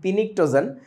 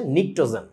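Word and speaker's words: pnictogen: silent সথিং পিনিটোজেন জিনিসটার উচ্চারণটা হবে হচ্ছে নিক্টোজেন এখন আমাকে বলেন এটার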